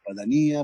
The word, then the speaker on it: Padania: Perché avviene in quell'area particolare della Padania, o della Padania, per dirla col poeta, visto che l'accento potrebbe andare sulla I, perché quell'area è fortemente attraversata dai sistemi di produzione agricole che sono allevamenti intensivi.